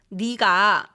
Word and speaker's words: 네가: 네가 나라면 어떻게 할 거야? 너 plus 가 becomes 내가, but pronounced as 네가.